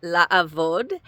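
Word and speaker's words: לעבוד: They all start with a li, and this one starts with a la, and that's because of the ayin that comes right after.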